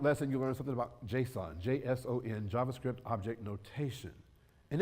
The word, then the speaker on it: JSON: And by the way, it's pronounced JSON, not Jason.